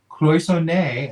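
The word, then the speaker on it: cloisonné: We're doing the cloisonne, evidently. Cloisonne. That's how you pronounce it.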